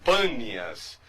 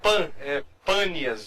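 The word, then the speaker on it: Panias: afluentes do Rio Jordão o nome bas de fato é panas mas os árabes têm dificuldade de pronunciar a letra P por isso é que ficou banias E aí Mas de fato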